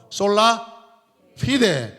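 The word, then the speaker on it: sola fide: 솔라 피데. 솔라 발음을 F 발음. 피데 이렇게 해야 됩니다.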